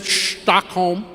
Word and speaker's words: Stockholm: That's how they say it, Stockholm.